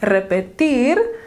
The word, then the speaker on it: repetir: infinitive unconjugated form well luther noticed that the stress on that word was different repetir he could hear how that sounded different the stress was on that last syllable of the word when compared to the